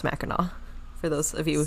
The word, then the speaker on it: Mackinac: And we do know that it is pronounced Mackinac for those of you who sorry, telling us.